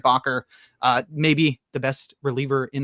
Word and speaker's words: Bakker: I had a headache about the way we were pronouncing Bakar's name, and we were wrong. It's Bakker, and also I've been calling him, and I've been calling him Luke.